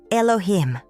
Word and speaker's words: Elohim: The name is Elohim. Elohim. 3 syllables, 3 repetitions.